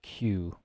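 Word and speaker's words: queue: sound at the end Q it's not a oh okay yes it was the EU sound at the end EU is our Q yes just pronounce it like the very first letter it's pronounced exactly like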